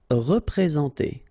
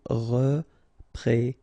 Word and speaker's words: représenter: Représenter, all right, remember that you get this N together, and then, well, it's a nasal, so it goes in your nose, and it's en, so représenter, représenter.